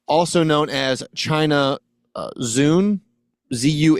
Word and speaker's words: Zun: I'm sure I'm mispronouncing. Is that one of those things, Tony, where it's actually like a noise? You muted yourself. Oh No, it's more of a TS sound like sun.